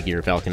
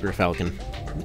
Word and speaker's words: Gear Falcon: so the the the gear falcon which yeah apparently it is supposed to be gear falcon not your falcon still going to pronounce